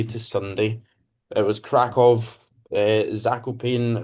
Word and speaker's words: Zakopane: It was Kov, Zakopane or Zakopana, I think is like the actual pronunciation, but I'm going to call it Zakopane.